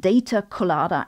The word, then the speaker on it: Data Colada: blog called Data collider that's not me mispronouncing collider but data Coller as in Pia Coller the three are quite